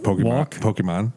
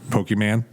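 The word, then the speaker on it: Pokémon: some walking around uh can you say it correctly though i don't know which part pokemon pokemon thank you what was i saying pokeman oh this is insufferable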